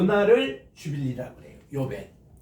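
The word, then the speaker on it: יובל: 희년을 히브리 말로 뭐라고 하는 게 요벨이라 그래요.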